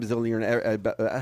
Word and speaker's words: Bilzerian: So overnight, obviously, you meet a guy, Dan Bilzerian.